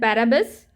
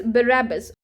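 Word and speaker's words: Barabas: ए बी ए एस बट डू not pronounce it एज बरबस इट इज़ बरबस when ever I एम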